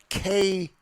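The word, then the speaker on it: kei: President Trump apparently enamored by the pint-sized K cars. Now, not the K cars that we're familiar with. This is spelled K K EI that he saw during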